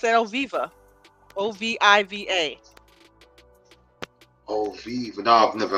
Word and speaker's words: Oviva: I don't know how long it's been open, but yeah, it's at Oviva, Oviva. Oviva. No, I've never heard. Say that again. Spell it again.